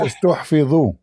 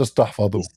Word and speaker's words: استحفظوا: It says استحفظوا, not استحفظوا. It's like mean they save it.